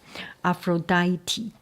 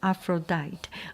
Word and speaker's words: Aphrodite: Aphroditi Aphroditi thank you for pointing me out. I think previously I pronounced Aphrodite.